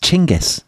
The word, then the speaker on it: Genghis: mine would tell you, it's actually pronounced Chingis. Did you know that? Do you know Tom? That's an amazing revelation to me. I didn't know that. You did not know that. Genghaskhan, Chingis Khan, however you want to call him.